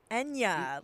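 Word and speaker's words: Ennia: Enya, like the singer. Enya. Yeah, spelled different, but it's pronounced like the same.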